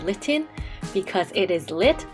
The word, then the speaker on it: Litten: packet here we have litten that rhymes with kitten and i realize why it's called litten because it is lit